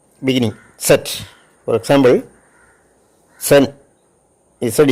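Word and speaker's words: zehn: ആദ്യം ഉണ്ടാകും ഉദാഹരണമായിട്ട് 10 എന്നുള്ളതിന് സെഡ് ഇ എൻ സെൻ എന്നാണ് പറയുന്നത് എക്സെറ്റിന്റെ ഉച്ചാരണം സ്ട്രാസെ എന്നൊരു വാക്കുണ്ട് എസ് ടി ആർ എച്ച്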